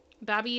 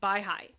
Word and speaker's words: Baha'i: Babi is pronounced Baha'i.